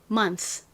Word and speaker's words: month: 그리고 방금 말씀드렸던 것처럼 TH가 이렇게 끝에 오면 그 존재감이 확 줄어들게 됩니다. 그래서 뜨 이렇게 강렬한 뜨 소리가 아니라 미약한 소리가 나요. 바람 빠지듯이 아주 미약한 소리니까 작게 써볼게요. 자, 이렇게 뜨 이렇게 강렬한 소리 아니고 조그맣게 소리가 납니다.